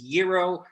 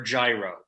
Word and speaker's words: gyro: montreal i don't know in many places it's gyro or gyro and whatever way you say it is always the wrong way so we get out of the whole g silent g thing we just have it